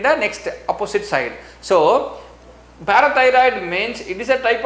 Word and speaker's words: parathyroid: The next third gland is parathyroid. Parathyroid. How you have to pronounce?